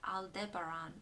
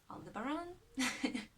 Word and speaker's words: Aldebaran: at least which is the star Aldebaran or on the bar on depending how you want to pronounce it or pronounces likely with